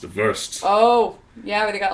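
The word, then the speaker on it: WVRST: what's it called it's called worst or pronounced ver oh yeah they got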